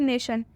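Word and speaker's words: nation: एक और एग्जाम्पल देखिए, नेशन। नेशन में भी आई से पहले टी आया है, इसलिए जो आई है उसका उच्चारण अ से किया जाएगा।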